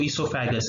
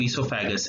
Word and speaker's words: oesophagus: दोनों same pronunciation है, same organ है, अंतर बस ये है, ये जो OESO वाला जो ईसोफेगस है ये ओल्ड इंग्लिश है, यूके इंग्लिश है, ब्रिटिश इंग्लिश है, और जो ESO वाला जो ईसोफेगस है ये अमेरिकन इंग्लिश है, न्यू इंग्लिश है।